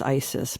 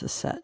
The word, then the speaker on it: Aset: Mary Magdalene and Aset, you know her as Isis, but her actual name is Aset.